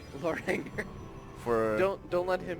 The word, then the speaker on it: Loranger: for a moment that's my bad it's actually pronounced Loranger Loranger for don't don't let him hear you say